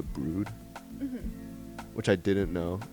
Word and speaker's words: The Broad: And then we went to the Broad, which I'm finding out is actually pronounced like the Brood, Mhm.